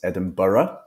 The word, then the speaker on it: Edinburgh: capital city over here Edinburgh not Edinburg as many people pronounce Edinburgh and then we have